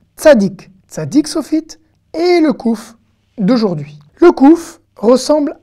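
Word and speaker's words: קוף: Et le son, évidemment, c'est un K. Que, kouf. Par contre, contrairement au kaf, le kouf se prononcera toujours que.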